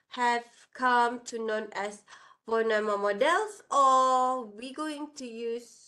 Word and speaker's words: von Neumann: Pronunciation is von Neumann.